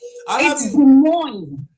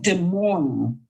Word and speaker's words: Des Moines: That Des Moines. Des Des Moines. Yeah, Des Moines Iowa. So, if it's Des Moines, why did they not spell it d e m o i n?